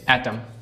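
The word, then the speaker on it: autumn: जैसे एटम शरद ऋतु। अब इसमें जो एन है वो क्या है? साइलेंट है। ठीक है?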